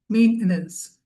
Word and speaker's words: maintenance: Maintenance. We don't say maintenance. That's usually the British pronunciation of this word. In American English, it's maintenance.